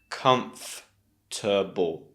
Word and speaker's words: comfortable: Just make sure not to say 4 sounds. Comfortable. No. It's 3 sounds. Comfortable.